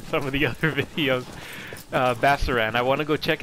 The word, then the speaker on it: Basaran: I really wanted to go check out Barsana's cave. Basaran is his name. I'm pretty sure I've been saying his name wrong the whole time in some of the other videos. Basaran, I want to go check out his cave.